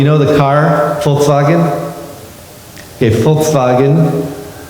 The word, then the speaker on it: Volkswagen: Okay, Volkswagen, spelled with a V, but it's pronounced like an F.